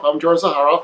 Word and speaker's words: Zaharoff: with emza har off sound like pizza so har the car are off like the switch it's a car off